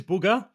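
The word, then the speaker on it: Bugha: interviewed by other people it is booger is how it's pronounced and he said it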